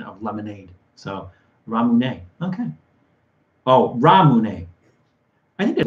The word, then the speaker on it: Ramune: flavor actually it's pronounced ramune the way the japanese pronounced lemonade yeah oh i did